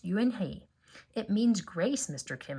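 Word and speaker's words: Unhei: joey she nodded slowly yes it's pronounced you and hey it means grace mr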